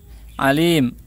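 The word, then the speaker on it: عالم: Ini memang yang agak sulit bagi orang Indonesia mengucapkan ain ya. Alim, alim, ya'mur, ya'mur, ja'a, ja'a.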